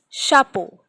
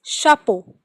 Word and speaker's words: chapeau: Again, another example is hat, which we pronounce it as chapeau. Ch is sounding like sh. Sh. So it is chapeau.